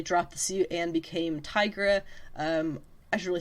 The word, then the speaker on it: Tigra: um deep relationship now tigra i gotta i gotta contain it like i keep wanting to say tiger i gotta gotta say it right tigra uh tiger was the